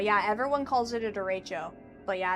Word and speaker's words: derecho: Forgot to roll the R? Bruh. It's pronounced differently in Spanish. I'm just saying that's how we pronounce it here, okay? In the Midwest.